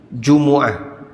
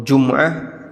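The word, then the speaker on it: جمعة: Dan demikian cara baca menurut jumhur ahli bahasa. Meskipun boleh dibaca dengan sukun Jum'ah takhfifan, dalam rangka untuk meringankan cara baca kalimat, cara baca kata.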